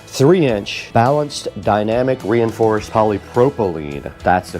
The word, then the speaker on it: polypropylene: This thing does have 6 3-inch balanced dynamic reinforced polypropylene. That's the correct pronunciation, and it does have 1 high resolution tweeter.